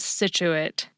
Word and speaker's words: Scituate: And a very few words make it sound just like S, science, rescind, descent, and the Massachusetts coastal town called Scituate.